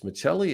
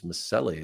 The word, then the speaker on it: Miceli: it's not it's it's Miceli in Italy it's Miceli as they pronounce it here in the states so we had a